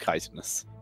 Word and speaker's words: chitinous: And I have learned it is, in fact, pronounced chitinous, according to every result on Google ever.